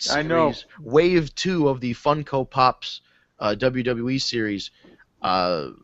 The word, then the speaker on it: Funko: Funko Pop figures but Funko Funko is spelled like the word funky but with an O at the end instead